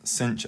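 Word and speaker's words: sinh: might look like so for the first one cinch X which can also be pronounced shine X it's up to you but I'll be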